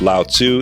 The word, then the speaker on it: Lao Tzu: you spell his name sometimes we spell at Li o space Tzu and pronounce it Lao Tzu in the West Lao Tzu means old